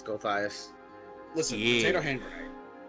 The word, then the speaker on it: Gulthias: So, how do you pronounce this tree? Because I've been Gulthias. calling it the Gulthias tree.